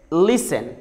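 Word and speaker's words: listen: और ऐसे ही अगर लेटर टी से पहले एस हो और उसके बाद ई एन आए तो भी लेटर टी साइलेंट होता है. जैसे लिसन, लिसन.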